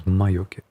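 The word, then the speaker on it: 魔除け: Yeah, it's like 2 syllables. Mayoke.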